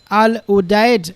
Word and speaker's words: Al Udeid: So Qatar US FF-22 fighter jets arrived at the Al Udeid, this is how you say, air base near Doha.